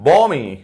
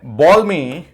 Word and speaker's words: balm: एक वर्ड है बॉल्मी and there is a word BALM। BALM क्या है? BALM बालम नहीं है, BALM का उच्चारण है बॉम। बॉम, एल साइलेंट है।